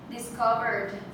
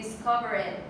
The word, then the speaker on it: discovered: Discovered. Okay, here it is. The D. Discovered. I've heard people who say discover it, but no, it's discovered with the D.